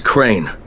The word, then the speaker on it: Crane: store no my name's crane crane crane rhymes with train and brain and San and Grain and rain and plain and the other kind of plane and and but